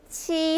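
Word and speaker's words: 七: 알아두시고 자 7로 넘어갈게요 7은 우리나라 바른 거 굉장히 비슷해요 발음이 치 하시면 되는데 7하고 비슷하죠 자 이래서 손동작도 치라고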